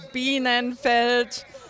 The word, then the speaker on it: Bienenfeld: Yeah, I'm so glad you know how to pronounce it because the announcer sure didn't. It's Bienenfeld.